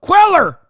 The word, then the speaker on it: Cuellar: Henry Queller, brother. That's how you say it. God damn it. He's in Texas, not Mexico.